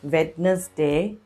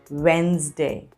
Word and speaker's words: Wednesday: day of the week it's not wednesday it's wednesday wednesday yes the correct pronunciation is wednesday and the next one